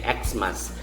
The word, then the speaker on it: Xmas: letters m a s this can also be read as christmas or you can say xmas still uh there is a